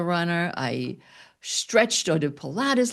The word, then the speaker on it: Pilates: I stretched or did Pilates like a runner.